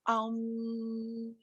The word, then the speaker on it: Om: Este Om, que generalmente se pronuncia como Aum, y que uno ve